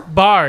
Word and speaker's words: Barr: we got Mr Jacob how do you say your last name is it bar bar yep Bar in Studio from the